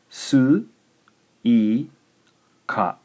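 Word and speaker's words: すいか: This one is 3 syllables. Here's the word. Su, I, ka.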